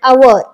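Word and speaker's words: hour: अन युज करतो आणि honest आणि अवर हे काही वेगळे शब्द आहे ज्यांचा स्वरांचा उच्चार जरी स्पेलिंग त्याची एचने सुरू होत असेल तरीही स्वराचा उच्चार होतो म्हणून आपण तिथे अन युज करतो तर आता आपण पाहूयात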